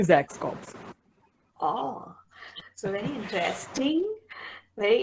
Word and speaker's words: XAXs Corps: common name so uh the pronunciation will be zach's cops oh so very interesting